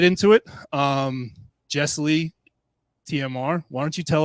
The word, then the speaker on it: Jesslee: so it's funny because everybody always wants to separate it into like two words and I'm like it's my first name it's and it's like